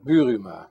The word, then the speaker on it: Buruma: welcome all right now give us a real pronunciation of your last name it sounds almost Turkish bua bua okay that's badass what what uh what